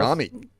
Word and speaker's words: Camhi: Camhi. Yes. The H is silent.